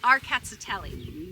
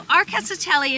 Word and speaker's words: Rkatsiteli: It's called Arkatsiteli. Or at least that's how we pronounce it. It's a Georgian grape.